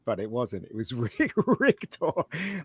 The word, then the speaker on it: Richter: I always thought it was Victor, but it wasn't. It was Richter. I always thought Arnie was pronouncing Victor wrong, but it is spelled Richter, basically.